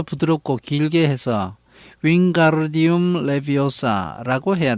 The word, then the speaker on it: Wingardium Leviosa: You are saying it wrong. 너가 주문을 잘못 말하고 있어. Harry heard Hermione snap. 해리는 허마이니가 딱딱거리는 소리를 들었습니다. It's Wingardium Leviosa, making the garden nice and long.